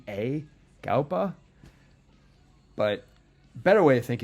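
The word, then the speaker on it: Gaupa: album Number Four Myriad by Nasser how I pronunciate it it's all capital g a u p a galpa but better way to think of it is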